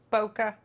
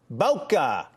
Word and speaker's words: Bokeh: me kim will you boca bocca why don't you do it like boca raton i mean uh yeah kinda it is a photography